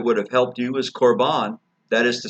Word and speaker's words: korban: Now, the word korban is the English transliteration of the Greek word, which is pronounced very, very closely to it, korban.